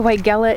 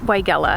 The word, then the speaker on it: Weigela: I learned incorrectly. So the person I bought it from called it Weigela, and that's how I pronounced it. And then the entire gardening community was like, no, that's Weigela. And I was like, oh, okay then.